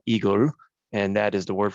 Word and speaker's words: IGEL: december and so um igel is the word in german it's called igor and that is the